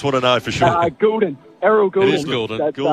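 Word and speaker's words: Gulden: Goulden.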